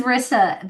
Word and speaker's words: Risa: Well, my name is Rissa, but it's spelled with one S, and that always messes people up.